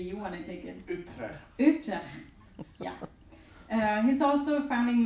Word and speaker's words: Utrecht: He's currently an assistant professor in the Department of Philosophy and Religious Studies at pronunciation of the university. Maybe you want to take it. Utrecht.